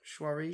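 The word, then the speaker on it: Saoirse: oh my god yeah it's pretty supreme Roger pronounced miss Ronan's names is shuara sure sure sure sure sure sure on him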